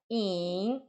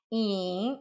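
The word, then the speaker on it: 影: A maneira de se pronunciar in, olha, é um pouco difícil porque é um terceiro tom. In, Y-I-N-G, Y-I-N-G. In, então é Tian, é assim mesmo que a gente pronuncia.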